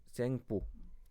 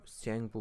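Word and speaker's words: Tsangpo: The Brahmaputra river is known as सेंगपो। इसका यह है सेंगपो। ठीक है ना? टी का आवाज नहीं आता। टी साइलेंट रहता है। सेंगपो बोलते हैं।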